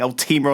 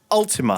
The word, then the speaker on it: Ultima: the time I'll tell how do you have to pronounce it that way Ultima thank you Ultima Online I've always pronounced